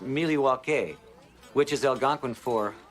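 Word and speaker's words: Milwaukee: Actually, it's pronounced Milliewake, which is El Gangquin for the good land.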